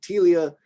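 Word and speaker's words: Ptelea: So this is, we just kind of take the P away, just call that one Telia.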